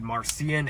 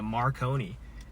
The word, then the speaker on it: Marcian: All right, I'm here with Marcian Evans. So He, they pronounced him as Marconi.